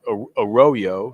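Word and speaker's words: Arroyo: Miami Elijah aoo oroo now it's spelled a Royo and you figured it's you know which like we're from Texas you know you pronounce it like it is but he says it's aoo so it's it's how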